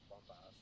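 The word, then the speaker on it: Bumpass: Is that how you say it? Is it Bump Ass or Bump Ass Well, or we what? call bumpus. One, Bumpus, okay. one thing, but bump ass is probably the better way to I'll say tell it.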